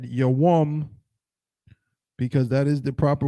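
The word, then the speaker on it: יום: Right, and not yom. Notice the brother did not say yom. That would have been incorrect. Right? He said yawam because that is the proper word.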